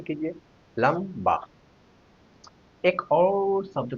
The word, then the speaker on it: लंबा: पहला शब्द हमने लिखा लंबा। यहां पर अनुस्वार का उच्चारण म के रूप में हो रहा है। लंबा यानी आधा म।